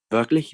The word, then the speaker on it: wirklich: Wirklich wie das? Really? How so? Yeah, to say this sentence, even though it's very short, to say it like a native, you have to stretch the I here.